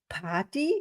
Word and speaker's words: Pardi: my today's guest is Elaine Pardi. Is this correct, or how Yeah, do you pronounce perfect. me? Party.